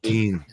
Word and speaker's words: poutine: Yeah, I Poutine. thought it was like pretzels or something. Poutine. It's French fries and gravy. Okay, so it is. Oh, yeah, some yeah. kind of food. Poutine.